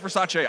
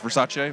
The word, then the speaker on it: Versace: at the versace versace apparently it's versace i did not know but it's versace versace no i'm not